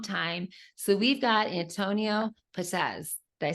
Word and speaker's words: Perez: So we've got Antonio Perez. Did I say it right? Yes, Perez.